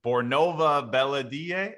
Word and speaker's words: Bornova Belediye: Bornova Belediye.